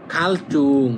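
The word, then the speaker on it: 갈증: এই যে সাংজিউ এই জিটা আছে একবার। তখন উচ্চারণ করবেন দুইবার। ফালচন মানে উন্নতি করা বা বিকশিত হওয়া। খালচুং মানে তৃষণ। খালচুং মানে তৃষণ। এটা জুং হবে না। এটা হবে চুং।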